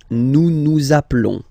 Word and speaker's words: nous nous appelons: Nous nous appelons. Nous nous appelons. Okay, final S doesn't exist.